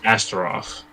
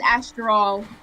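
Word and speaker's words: Asteral: our last name okay your last name is astroth well our last name is astral well you can just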